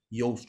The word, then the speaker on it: Yoast: Yoast, you spell it like toast, but you use the Y.